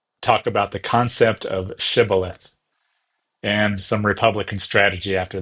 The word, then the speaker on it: shibboleth: uh a person crossing the river is made to say the word shibilith and if they mispronounce it and said instead uh say cibilith then they're put to death.